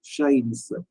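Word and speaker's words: chat: சின்ன க்ளூ மாதிரி வச்சீங்கன்னா சிச் ஏ டி ஷா ன்னு இருக்கு உச்சரிப்பு வந்து ஷா பட் வந்து அந்த எச்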